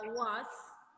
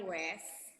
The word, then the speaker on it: was: Itu seperti yang dibacakan Hafi tadi itu ada was, that was interesting. Hafi bacanya wes.